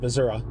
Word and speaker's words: Missouri: the the boot heill of Missoura I was like to call it Missour the boot the boot